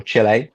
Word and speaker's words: Chile: The countries, if you're really interested, are Argentina, Colombia, Ecuador, Mexico, Peru, Chile, um, or Chile, depending on where on your pronunciation for that, with merchants receiving payments in local currency.